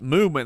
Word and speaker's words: MVMT: We want to thank MVMT, pronounced Movement.